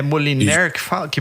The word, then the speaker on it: Moliner: É, é Moliner que fala, que pronuncia, mano. Moliner.